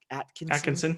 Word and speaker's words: Atkinson: I've known him, Jarem Atkinson. Did I say it right? Atkinson. Yep. Yeah, I always, the T and the K always mess me up when I see it.